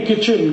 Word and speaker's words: kitchen: एक शब्द है किटचेन, KITCHEN, कहते नहीं किचन किचन किचन, फिर KIT क्यों लिख रहे हो, टी साइलेंट है, क्यों लगाया, हटा दो।